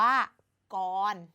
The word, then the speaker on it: กร: ของ เรา เนี่ย ค่ะ ก่อน เกิด จาก ก ก ร ก คือ พยัญชนะ ต้น ตัว ก ไก่ อ คือ สระ ออ รอ คือ ตัว สะกด คือ ตัว ร เรือ อ่าน ว่า ก่อน แต่ ใน การ เขียน